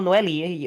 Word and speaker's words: Noel: Would it be no or would it still be Noel? No, it would be Oh, I just if you I capitalize the L, it's Noel.